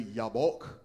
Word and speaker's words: Jabbok: And some pronounce it Jabbok, some say Jabbok. The Hebrew is actually Jabbok, but I have said Jabbok for a long time, and I'm not going to remember to say Jabbok.